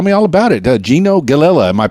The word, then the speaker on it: Gallela: so uh tell me all about it Gino gelila am i pronouncing it properly yeah you're probably one of